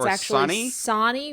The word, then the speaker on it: Sonny: I imagine that's Sony. No, it's Or actually Sonny? Sonny rhymes with Donnie.